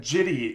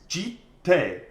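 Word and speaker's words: Jitte: The reason that Jitty is not acceptable is because, again, okay, so this is a Kamigawa card, which is a Japanese themed set. If you pronounced it the correct Japanese way, it's jite, okay? Yeah. J-I, an I is like E.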